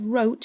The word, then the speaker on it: wrote: she wrote now there that word wrote has got a silent w the first book she